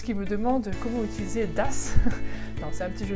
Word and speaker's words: das: das avec deux S, vous avez remarqué à l'oral, il n'y a pas de différence, que je dise das ou das, ça se prononce de la même manière, d'accord? Il n'y en a pas un où le A est long ou court, c'est das, d'accord?